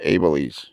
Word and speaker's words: Abeles: Abeles.